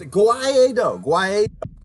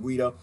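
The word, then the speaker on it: Guaidó: The irony knows Guaido. They invited the CIA learn how to pronounce his name. They keep calling him Guido.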